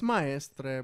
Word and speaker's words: Maestre: It's Maestre, but I said it right then.